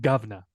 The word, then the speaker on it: Grosvenor: She can't even say Grosvenor. She doesn't know where that is. She probably never even lived there. I think you say it like governor.